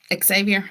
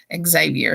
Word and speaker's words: Xavier: I started off Javier because actually the first time I ever saw the name, it was somebody whose name was spelled like that, and it was Javier. And so that's always the first thing I go to.